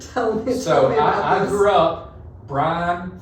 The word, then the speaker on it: Brian: She goes, yeah, it's not Brian, it's Brian. It's 2 syllables, not 1.